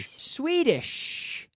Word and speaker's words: Swedish: last thing I do I have to hear the SH the Shh Swedish Swedish it's like Shh be quiet Shh we dish and